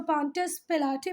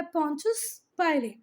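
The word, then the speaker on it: Pontius Pilate: हो सकता है आपकी टीचर उसका पॉन्टियस पिलाटे पढ़े, पर ये है पॉन्टियस पाइले, ठीक है, पॉन्टियस पाइले।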